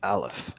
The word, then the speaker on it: aleph: the first letter of the hebrew alphabet is pronounced alef so when you hear me say aleph one that's that's where that's coming from and